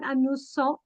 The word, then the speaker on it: amusant: With when the letter S appears between two vowels, we pronounce it Z. Amusant. So it's not amusant, it's amusant, enjoying.